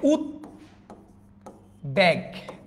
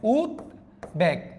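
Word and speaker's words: উদ্বেগ: দ্বন্দ্ব কখনো বফলা উচ্চারণ হচ্ছে না, এইটাতে উচ্চারণ হচ্ছে উত ব্যাগ, দেখেন উত ব্যাগ, বটা উচ্চারণ হচ্ছে।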